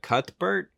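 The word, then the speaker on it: Cuthbert: I can't pronounce her last name it's Alicia cutbert that's how you pronounce it this is like this is the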